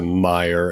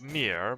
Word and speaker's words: Mir: ahead and fly to Meyer and meet us there. Yep. If the airship is finished, take the airship to Meyer with the captain and the guard. I think it's pronounced Mir, but sure.